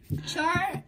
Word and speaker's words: Charizard: right there don't say it wrong chard no Charizard Charizard I just say toward you son Charizard